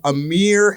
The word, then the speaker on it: Amryh: We have Amryh, a.k.a. in the mother effing building. And I pronounced that right, Amryh? What up? Yeah, you did. That was right.